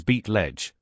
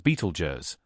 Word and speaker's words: Betelgeuse: That shoulder is Beat Ledge, better known in common pronunciation as Beetlej, a red super giant whose size and brilliance have made it legendary.